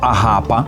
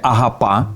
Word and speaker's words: агапа: Итак, вечеря любви, или "агапа", точнее "агапа", ударение на последнюю а происходит от слова "агапе" - любовь.